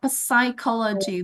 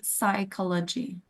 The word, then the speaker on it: psychology: Okay, because the pronunciation is not psychology, but immediately psychology. So we can start with S sound.